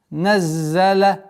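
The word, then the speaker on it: نَزَّلَ: Наззаля. Обратите внимание, чтобы зай не переходила межзубной. Наззаля. Нет. Наззаля. Свистящий звук. Зай. Зай, син, сад, свистящие звуки, поэтому четкость, яркость произношения должна оставаться.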